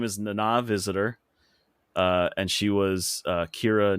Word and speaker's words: Nana: It's spelled like Nana, like Nana, but it's pronounced like Nana Okay.